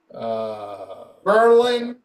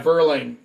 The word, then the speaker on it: Verlaine: How do I pronounce his last name? Verlaine. Yeah, Verlaine.